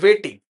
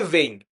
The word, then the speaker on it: weighing: And yes, GLBP also uses something called waiting. Waiting is used waiting not of in the time of waiting weighing. Basically, the pronunciation should be weighing.